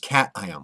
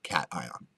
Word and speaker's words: cation: pronounced C it's pronounced Caton like meow cat ion okay cat ions are